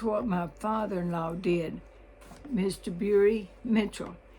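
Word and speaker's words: Bura: Bury Mitchell. His name was spelled B-U-R-A, but everybody pronounced it Bury.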